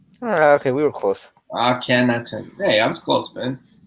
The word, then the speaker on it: Akhenaten: So Tim is saying that it's pronounced Akhenaten. Okay, we were close. Akhenaten.